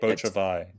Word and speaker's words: Beau Travail: when they watch this, which is Claire Denis' Beau Travail, I think is how you say it. Beau Travail.